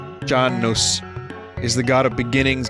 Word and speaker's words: Janus: Roman religion and myth Janus pronounced John knows is the god of